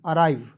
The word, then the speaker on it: arrive: यहाँ आप देखेंगे ARRIVE, अराइव, एराइव नहीं पढ़ेंगे, ठीक है।